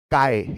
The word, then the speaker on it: chi: it is yes obviously it is pronounced as kai technically But I say